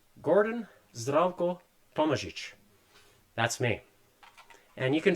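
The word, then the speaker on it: Tomažič: It's T O M A Z I C. The zed has a little hat on it as does the C. So that's the correct pronunciation. Gordon Zcoichic.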